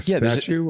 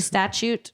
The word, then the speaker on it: statute: Federal male uh a statue of limitations a statute it's a statute that's what I said I thought you said statute of limitations I thought it was Statue the whole time and I've been saying it wrong you